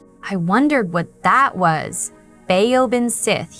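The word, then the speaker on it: baobhan sith: Beaobin Sith. He pronounced it like Ban Shei. And that reminded me of the name Banshee.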